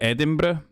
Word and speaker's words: Edinburgh: that you're the only American that can actually pronounce Scottish cities correctly Edinburgh yeah yeah this is my leader these are